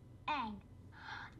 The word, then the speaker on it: Aang: Aang. That rhymes with Meng.